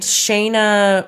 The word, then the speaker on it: Shanna: It was pronounced Shayna, but it's spelled Shanna.